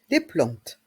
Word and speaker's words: plantes: le potagé le potagé les plantes les plantes dans le mot plante le a et le N font le son en plante et le S à